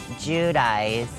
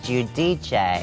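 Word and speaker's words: Giudice: Well, it was Judice. Uh-huh. And then I realized it was Judich.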